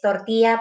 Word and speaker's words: tortilla: Ang famous traditional food ng Spain is tortilla patatas. Ano siya? Ano, eye, ang double L rather, double L, they pronounce it as ye, tortilla, paella, what else?